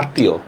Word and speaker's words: আত্মীয়: শব্দের মধ্যে বা শেষে মফলার উচ্চারণটা দ্বিত্ব হয়। দ্বিত্ব মানে দুইবার উচ্চারণ হবে।